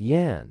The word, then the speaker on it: Jan: is ireland okay so my name is jan but pronounced yan i am a boy